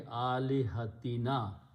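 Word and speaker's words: آلهتنا: An is a harf-e-jar. Harf-e-jar looks at the next word and changes dhamma to a kasra, and this pronunciation will be alihatina.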